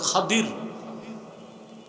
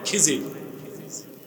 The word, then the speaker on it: খাদির: আর উনার মন্ত্রী ছিল হযরত খাদির। কি নাম? আপনারা ভুল বলেন খিজির। উচ্চারণটা হচ্ছে আমরা বলি খিজির উচ্চারণগুলো ঠিক করব আমরা আরেকজন ছিল জুলকারনাইন